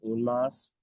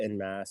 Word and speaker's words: En Masse: So it's a French phrase. Its origin is French. So the proper pronunciation is un mas, Un but Masse. people could say in mass.